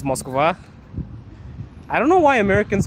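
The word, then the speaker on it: Москва: In Russian, it's Moskva.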